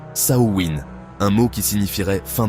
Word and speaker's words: Samhain: En Irlande, on parle de Samein qui se prononce Saowin, un mot qui signifierait fin de l'été.